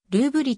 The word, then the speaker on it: ルーブリ: 通貨単位であるロシア語での発音に沿ってルーブリと表記する場合もある